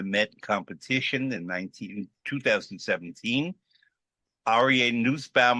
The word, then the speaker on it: Nussbaum: Aryeh Nussbaum, I'm going to use the German pronunciation, Cohen, originally from Brooklyn, now a resident of California, a countertenor, and a shooting star.